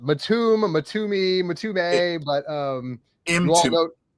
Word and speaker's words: Mtume: Mtume, Mtumee, Mtumay, but um Mtume. It Mtume, almost like almost like into me.